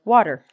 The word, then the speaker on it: water: A, E are vowels, and it's going to be said like water.